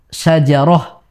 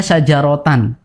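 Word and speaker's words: شجرة: Misalkan syajaroh, tulisannya syajarotan. Kita tidak membacanya syajarota, tidak. Namun kita baca syajaroh.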